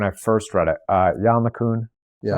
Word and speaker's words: LeCun: Jan LeCun, is that how you pronounce his name?